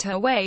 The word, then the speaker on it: Huawei: Huawei pronounced Huawei is already well known at home.